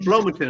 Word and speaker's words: Flomaton: Was that Flowmation? Flow. Is that how you say it? Flowmation. There's no I in it, so it's not a shun. It's a ton. Flomaton. I mean Flomaton.